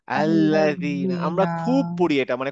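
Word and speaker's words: الذين: আল্লাজিনা আল্লাজিনা আল্লাজিনা আল্লাজিনা মনে রাখতে হবে আল্লাজিনা যেন না হয় আল্লাজিনা অনেকটা দ তায়ের মত তা এর মতই উচ্চারণ হবে দা এর মত উচ্চারণ হবে কিন্তু জীবটা একটু বের করে আনতে হবে আল্লাজিনা আল্লাজিনা কাদালিকা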